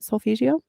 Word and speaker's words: solfeggio: of solfeggio I think I'm saying it right solfeggio yep bional beats guided meditation and 17 000